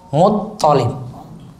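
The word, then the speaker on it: المطلب: Toknya yang tasdid, lamnya enggak tasdid. Muttalib.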